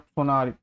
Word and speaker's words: Solnari: रेशियर ऑफ सोनारी। अब अच्छा यहाँ पे एल साइलेंट है, यहाँ पे सोलनारी लिखा हुआ है बट यहाँ पे सोनारी प्रोनाउंस होता है, एल साइलेंट है।